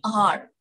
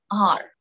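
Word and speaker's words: hour: An R. Yeah, it is H-O-U-R. Starts with the letter H. But see the pronunciation. An R.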